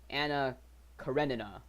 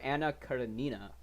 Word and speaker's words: Anna Karenina: Like right now, actually just today I started reading Anna Karenina, or how the Americans pronounce it, Anna Karenina. I think I prefer Anna Karenina. Sounds more Russian to me, at least.